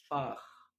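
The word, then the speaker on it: Fach: حرف التسي ها بيتنطق خ لو سبق بأربع مقاطع صوتية. أول مقطع حرف الآ، حرف الأو، حرف الأو، حرف آ، أو مقطع أو. يبقى أنا عندي كام مقطع يخليني أنطق خ؟ قولهم ورايا تاني: آ، أو، أو. طيب مثال على حرف الآ،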